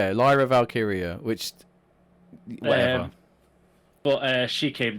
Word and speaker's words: Lyra Valkyria: I want to say Lyra Valkyrie, and it's not. I know it's not that, but it should be. Because that sounds so much better. Sorry. Lyra Valkyria. Lyra Valkyria, which whatever.